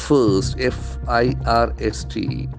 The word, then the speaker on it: first: First, F-I-R-S-T. We have the letter R after I, so that must be silent.